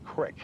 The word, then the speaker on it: Battle Creek: The way you pronounce it is Battle Creek. Well, that was my chance to laugh. I don't know how C-R-E-E-K became Crick.